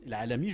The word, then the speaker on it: Alami: Alors Youssouf Amin, l'Alami, je le prononce à la marocaine parce que je pense que c'est comme ça, l'Alami, voilà, qui est romancier universitaire marocain.